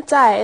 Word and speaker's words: 在: So here, is the second character, 在, is that pronounced with the fourth tone, or is it the neutral tone? Definitely with the fourth tone. 落在, you wouldn't do that, the neutral tone here would be 落在.